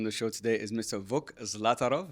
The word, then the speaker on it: Vuk Zlatarov: my guest on the show today is Mr vuk zlatarov V welcome to the show good to have